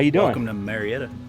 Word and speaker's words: Marietta: you doing I'm gonna marry it welcome to Marietta is how they say it around here so we got a